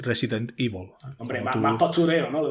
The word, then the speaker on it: Resident Evil: gusta a ti pronunciarlo yo suelo decir yo siempre he dicho Resident Evil pero ahora se dice con su formato inglés Resident Evil hombre más curero no